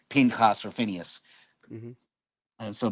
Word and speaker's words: Pinchas: name, what's popularly said Phineas, and now it's and as per the Masoretic pointing, it's pronounced Pinchas.